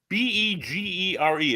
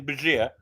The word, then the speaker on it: Bergier: Begere. It's the French name, Bergier.